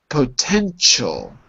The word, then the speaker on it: potential: And the 10th word, potential. Potential. Now you potential. Potential. Careful. It's not a sh. It's a ch.